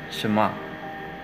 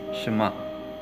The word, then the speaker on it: 什么: In Chinese Mandarin, 什么? Bigkasin mo lang siya ng mabilis, 什么? Pero pwede rin siyang i-pronounce as 什么? Yun yung usually ginagamit na pronunciation nila dito, even the Taiwanese.